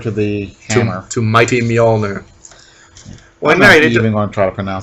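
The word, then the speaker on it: Mjölnir: the tumor two mighty Mjolnir what mary did you want are pronounce that Y Mjolnir that's easy two syllables me all nerd every time you just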